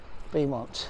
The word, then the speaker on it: Beaumont: There you go, locally pronounced Beaumont, the beautiful hill.